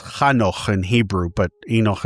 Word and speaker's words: Enoch: And we already, and by the way, it's Kano in Hebrew, but Enoch is the way uh it's pronounced in English, and I'll just keep that pronunciation.